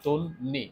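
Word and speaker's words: তন্বী: দন্তন্য কি বফল কিন্তু আমরা কিন্তু বফলাটা কিন্তু আমরা সাধারণত উচ্চারণ করি না এখানে কিন্তু আমরা নটা দুইবার উচ্চারণ করি তাই না যে তন্নি এখানে মূলত নটা দুইবার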